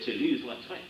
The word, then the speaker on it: Toulouse-Lautrec: in the Louvre, and asked me how to pronounce this funny name. I said, c'est Toulouse-Lautrec.